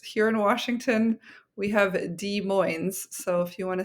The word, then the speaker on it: Des Moines: Des Moines is not me mispronouncing Des Moines, Iowa, and it's not consistent where we pronounce the S on both. Des Moines. It's here in Washington. We have Des Moines.